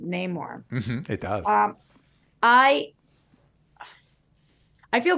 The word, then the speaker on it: Namor: Yay, more rhymes with Namor.